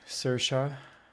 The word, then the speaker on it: Saoirse: Saoirse Ronan. It's pronounced Susie.